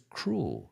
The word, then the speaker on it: cruel: No es cruel, es cruel.